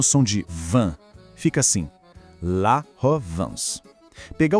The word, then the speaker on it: la Provence: A pronúncia certa é La Provence. A sílaba van não soa como em vento. É um som que sai mais pelo nariz. Tenta pensar no som de van. Fica assim, La Provence.